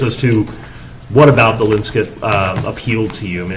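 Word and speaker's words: Linscott: And the Linskit is pronounced Linskit. No one really knows why.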